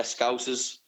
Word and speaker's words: Scousers: Is that how you pronounce it? The Scousers? Yeah, Scousers.